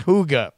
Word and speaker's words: hygge: oh wait hold on it's a Danish word pronounced hooga hooga hooga hooga jacket